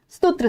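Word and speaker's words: सुत्त: पाली में र साइलेंट होता है, तो इसको सूत कर दिया गया, सूत पिटा का।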